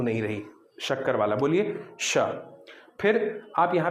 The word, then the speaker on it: श: और ये जो है इसमें आपकी जीभ सबसे बाहर यानी दांत को छूने का प्रयास कर रही है लेकिन छू नहीं पा रही। स, तो ये सबसे बाहर स, फिर उसके बाद थोड़ा सा पीछे श, फिर और पीछे श।